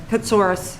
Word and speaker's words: Katsoris: Jennifer how do I say her name? Cartsourth. What's that? Katsoris. Katoris, okay. Katsoris.